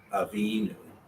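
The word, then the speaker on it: אָבִינוּ: The new ending will not be emphasized. It will always be the syllable before the new. Eloheinu. Avinu. Your emphasis is going to be before the news.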